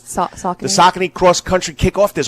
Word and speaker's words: Saucony: Is that how you say it? Is that the shoe? Is it Saucony? Yes, Saucony.